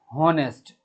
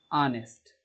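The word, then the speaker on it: honest: जैसे मान लीजिए इसको बहुत सारे बच्चे बोलते हैं हॉनेस्ट, ये गलत है, इसका सही उच्चारण होता है ऑनेस्ट, आ से शुरू होता है और आ से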